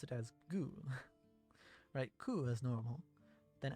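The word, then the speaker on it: ぐ: You pronounce it as Gu.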